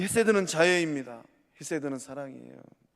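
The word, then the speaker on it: חסד: 세게 좀 발음하세요. 혀세드. 이 헤세드의 이 뜻은 따뜻한 마음이에요.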